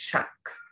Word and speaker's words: শাক: শব্দ হচ্ছে শাক শাক ক টাকে একটু জোর দিয়ে পড়তে হয় শাক শাক শুধু খেয়াল করে দেখবেন এই ক টা আপনি ঠিকঠাক মত উচ্চারণ করেন ক গ টাকে আপনি ঠিকঠাক ভাবে উচ্চারণ করেন শাক বলেন আপনি শাক বলেন গ উচ্চারণ করে ফেলেন তো এটা আসলে হয়ে